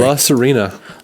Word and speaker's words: La Sirena: La Sirena.